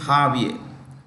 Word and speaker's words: Javier: Argentina uh or argentum um arent president is jaier m spelled j a v i e r Javier is the spelling but pronunciation is jaier j a v i e r Javier m